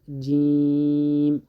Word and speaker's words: جیم: جیم اکثریت خلک جوم ورته وایي. الف ب ت س جوم غلط دی. دقیق تلفظ جیم.